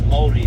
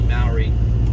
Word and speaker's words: Māori: And even the way I pronounce Māori as well is a little bit different to Maori, or the Maori, some people say as well.